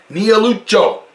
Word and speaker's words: Niellucciu: Niellucciu.